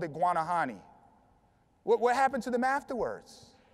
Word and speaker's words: Guanahani: The natives called it Guanahani.